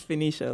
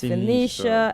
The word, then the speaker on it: Phoenicia: It's Phoenicia, like Phoenix. So it's Phoenicia.